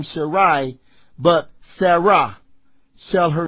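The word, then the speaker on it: Sarai: And El Shadai said unto Abraham, as for Sharai, the pronouncing of her name before it was changed.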